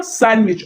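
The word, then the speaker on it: sandwich: को टिक कर दें व्हिच letter in silent in the word सैंडविच अब आपने पढ़ा इसको क्या सैंडविच और लिखा क्या है सैंडविच यानी डी इसमें क्या है साइलेंट है तो ऐसे ही पता चल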